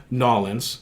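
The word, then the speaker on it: New Orleans: i have a friend from nollens you know that's how they say it knowledge and uh corey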